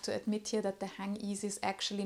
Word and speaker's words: Hangisi: I did some research online, and I think most people use this English way of saying it. They say Hangisi. For some reason, I think a lot of people don't know how to say it correctly. I found interviews by Manolo Blahnik where he said that this term is actually Turkish. Then you would say Hangisi, I hope I said